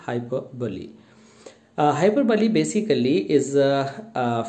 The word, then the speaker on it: hyperbole: hyperbolic figure of speech the pronunciation of this word hyperbole is hyper bully uh hyperbole basically is